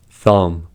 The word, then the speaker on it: thumb: First, B is not pronounced after M at the end of a word. These are examples: limb, plum, numb, crumb, dumb, comb, bomb, thumb, climb, tomb.